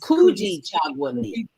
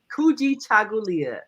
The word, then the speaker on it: Kujichagulia: Now, you know, I was here trying to pronounce the second day of Kwanzaa, the Kujichagulia. Yes. Kujichagulia. Kujichagulia.